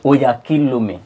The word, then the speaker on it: Oyakhilome: You see, the reason I try to escape it because you cannot pronounce it. Oh, you say Oyakhilome. Oyakhilome.